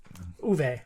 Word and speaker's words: Uwe: I think it's Uwe? Uwe? I think it's Uwe. Uwe.